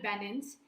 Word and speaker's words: Banens: special guest with me her name is bannons correct me if I'm pronouncing your surname it was perfect love perfect